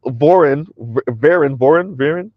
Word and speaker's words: Warren: The wife is Swedish, and Alexander Winberg, pronounced Vinberg or Vinberg, I'm not sure, is Swedish and in cohabitation relationship with Felicia Warren, pronounced Varen, right?